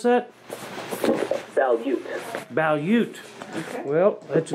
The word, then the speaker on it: Balut: How do you pronounce that? Balut.